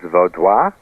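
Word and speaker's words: Vaudois: But that's the Americanized version of the word because in French it's voda. Valda, which means the people of the valley, and in German it's Valda, which means the people of the forest.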